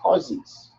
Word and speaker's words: SCSI: Big servers don't use SATA hard drives, those regular, they use SCSIs.